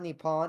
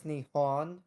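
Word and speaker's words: 日本: will say Trad I must correct you you mispronounced it it's not nepon it's Nihon oh okay weeaboo yeah let's yeah if you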